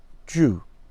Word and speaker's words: ju: more roots and the root of ajowa is Jew that's a long u so ja ooh Jew and according to the